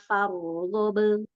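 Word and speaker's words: فارغب: wa ila rabbika farghab. Ahsan. Farghab. Jadi ro lebih panjang durasinya daripada ba yang sukun.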